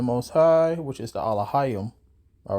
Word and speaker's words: Elohim: image of the Most High, which is the Elohim.